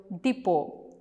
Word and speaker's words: depot: So when we pronounce, the letter T is silent there. Next you have the word depot.